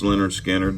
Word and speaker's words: Lynyrd Skynyrd: This is pronounced Lynyrd Skynyrd.